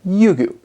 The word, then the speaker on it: Ryugu: december 3rd 2014 and sent it towards asteroid yugu that's how you pronounce it yugu now yugu is the japanese word for dragon